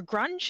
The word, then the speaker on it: grung: an orange grung or grunge is it pronounced grung grung yes yes not grunge like the 90s uh music maybe she's into